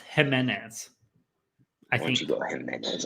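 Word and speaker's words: Ximénez: Yeah, so it's spelled with an X, but it's pronounced Jimenez.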